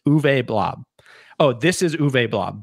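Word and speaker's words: Uwe Blab: his name before this blob for the for the audio listeners is spelled you w e and blob is spelled b l a b but it's uve blob oh this is uv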